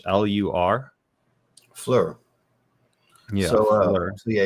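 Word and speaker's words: Phlur: house p h lur Flur yeah so yeah you got to pronounce it as an F it's Flur like fat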